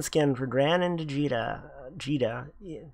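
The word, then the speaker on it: Djeeta: for gran and vegeta geeta the d is silent it's not too cheetah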